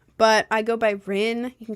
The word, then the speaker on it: Rin: Uh, but I go by Ren. You can call me whatever though. I really don't care. Um, it's spelled.